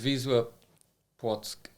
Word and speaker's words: Wisła Płock: Wisla Plock? yeah, pretty good. Wisła Płock.